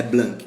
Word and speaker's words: Blanc: implementação da Lei Aldir Blanc melhor Aldir Blanc eu pronuncio como errado é blanquet que se fala e aí é E